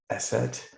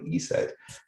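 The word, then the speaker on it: ESET: you can see on the screen it's not pronounced esset uh or esct some people will spell that out it's actually e said and it translated into Slovak for the goddess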